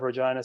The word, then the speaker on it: Regina: quote the mayor of Regina, Sandra Masters, when I say it is a city that rhymes with fun.